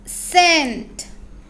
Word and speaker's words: scent: Next example SCENT, सी के बाद letter ई आया है इसलिए सी का साउंड होगा स। SC बन जाएगा SS, सेंट।